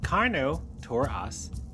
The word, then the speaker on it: Carnotaurus: Carnotaurus, pronounced carno to us, lived during the late Cretaceous period around 70 million years ago in what is now Argentina.